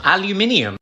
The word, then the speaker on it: aluminium: You're losing a syllable. Aluminium.